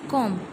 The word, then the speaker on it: comb: जब हम लिखते हैं तो रिटन वर्क में हमारा बी लिखा जाता है, लेकिन जब हम ओरली इसका प्रोनाउंसिएशन करते हैं तो यहाँ पर कॉम ही बोला जाता है, कॉम्ब नहीं बोला जाता है. अगर आपका प्रोनाउंस करते समय अगर आपका बी भी आप इंक्लूड करते हैं तो वह आपका प्रोनाउंसिएशन गलत होगा.